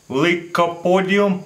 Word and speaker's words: Lycopodium: gonna show you a pretty cool experiment with Lycopodium powder, that's how you pronounce it.